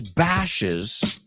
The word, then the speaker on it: bashes: She always bashes. Now, cuidado, ya cambia de 2 sílabas. So bash, bashes.